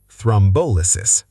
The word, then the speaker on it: thrombolysis: Thrombolysis. Equal stress is wrong. Correct. Thrombolysis. Thrombolysis.